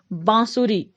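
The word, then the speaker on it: बाँसुरी: तीसरा है बांसुरी, उच्चारण फिर से कीजिए बांसुरी, यानी हम मुंह और नासिका दोनों का प्रयोग कर रहे हैं, तो ये बिल्कुल सही है क्योंकि इसमें सही स्थान पर अनुनासिक का प्रयोग हुआ है।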